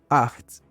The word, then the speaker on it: acht: The number 8 in German is acht. Think of it like a heavier H, almost a K, kind of like the Scottish pronunciation of the Loch in the Loch Ness Monster.